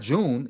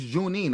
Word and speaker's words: Junine: It's not June. It's Junine.